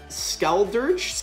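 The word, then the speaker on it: Skeledirge: Okay, we got a Skeldurge. Skeldurge is how you say it.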